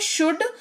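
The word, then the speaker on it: should: same है ठीक है अगला शब्द है शुड उच्चारण का लॉजिक सेम रहेगा एस एच ओ यू एल डी लेकिन एल साइलेंट रहेगा तो उच्चारण का लॉजिक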